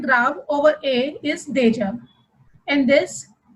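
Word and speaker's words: déjà: Another word with accent grave over A is deja. In this, first we have accent aigu over E, which is pronounced as A, and there will be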